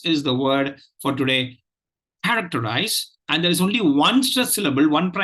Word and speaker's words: characterize: listen to the pronunciation the pronunciation goes like this characterize characterize characterize characterize now if you notice there is only one stress syllable in this word the the first syllable care Tech enter are